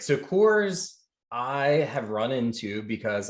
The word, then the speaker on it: CORS: thing and today's acronym is going to be coors so that's c-o-r-s go ahead take take the